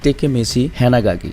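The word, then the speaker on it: Takemichi Hanagaki: তবে গত পর্বে একজন এই নামটা ঠিক করে দিয়েছে, এই নামটার অ্যাকচুয়াল উচ্চারণ হবে হচ্ছে টেকেমেচি হ্যানাগাকি।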